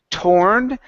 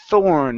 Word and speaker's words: thorn: okay so right here instead of torn It's Thorn make sure your tongue is between your teeth thorn thorn okay very